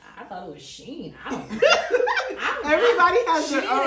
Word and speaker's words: Shein: it's the male version of Shein, right?